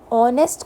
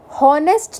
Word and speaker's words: honest: क्योंकि ऑनेस्ट को हम हॉनेस्ट नहीं बोलते, ऑनेस्ट में जो एच है ये साइलेंट है, एच क्या है?